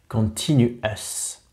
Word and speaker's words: continuous: o u s et comme tous les mots anglais qui se terminent par O us on va le prononcer comme s'il s'écrivait e US US donc continue US allez je ferme la